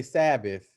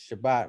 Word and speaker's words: Shabbat: take it there uh we say sabbath the actual word is shabbat it's spelled the same well it's spelled shin bet talk it's shabbat we say sabbath right